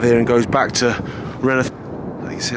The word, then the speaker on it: Rainworth: But at least I'm saying Renneth, not, you know, mispronouncing it.